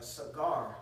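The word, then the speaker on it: סגר: I think in the Hebrew, the word there is a cigar, not like cigar which you smoke, but you know what I'm saying. That's how you pronounce the word in the Hebrew. Sa and gar, okay, and it means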